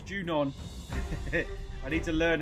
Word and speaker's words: Junon: jun's doorstep junon i' I've called it junan it's junon I need to learn